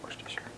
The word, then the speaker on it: Worcestershire: of worcestershire worcestershire shire whatever you however you pronounce this we say worcestershire i don't know what you say we say worst of sure okay so two tablespoons